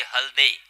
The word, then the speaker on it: हल्दे: हालांकि कभी कभी प्रोनाउंसिएशन हल्दे भी कहा जाता है, मगर मैंने पूछा उनको तो उन्होंने कहा कि हल्दे. ये हमेशा अपने टीम के लिए हल देते हैं, इसीलिए हल्दे. जी हाँ, ऑफ स्टंप के